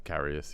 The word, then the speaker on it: Karius: It's Karius, yeah.